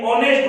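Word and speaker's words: honest: अब प्यारे बच्चों देखो इसमें ऑनेस्ट, इसमें एच जो है साइलेंट रहता है, ऑनेस्ट नहीं होता है, ऑनेस्ट होता है, एच साइलेंट होता है।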